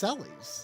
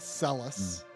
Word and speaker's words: Celes: can't break the Habit it's cies it's not celus it's cies I mean I've always